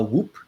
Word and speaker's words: Whoop: um so the device is called um a whoop wh o o p or as my brother pronounced it whoop um and um so it's